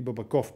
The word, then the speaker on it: Бабаков: през действията на санкционирания бабаков или бабаков по-скоро мисля че е правилното ударение това е темата на